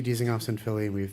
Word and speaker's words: Dizengoff: That's something you guys do at I hope I'm pronouncing it correctly. Dizengoff? Am I saying it right? Goldie. Yeah. Wait, what's the place you have in Chelsea Market? Dizengoff. Okay, so I didn't say it right, but you R.I.P.